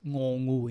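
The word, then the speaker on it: ง: We have one more one more consonant, which is the ending consonant after vowel, which is ngongu in this case. And the ngongu, usually we pronounce ng sound.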